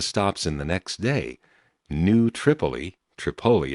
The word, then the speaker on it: New Tripoli: And fortunately, on one of the stops in the next day, New Tripoli it's pronounced, Pennsylvania, I did find one of those